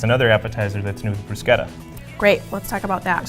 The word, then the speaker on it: bruschetta: It's often mispronounced as bruschetta, but the fact is it will be pronounced bruschetta.